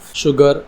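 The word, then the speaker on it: sugar: श की साउंड निकलेंगे शुगर श इंशोर ठीक है यहां पर भी श की साउंड निकली लेकिन यहां पर रीजन है एस के साथ में यू लगा है ठीक है तो यहां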